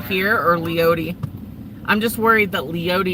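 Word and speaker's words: Leoti: shoot West here towards the town of leot I think is how you say that name that storm that is coming up towards leot um is really trying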